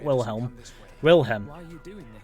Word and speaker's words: Wilhelm: It's Wilhelm, not Wilhelm.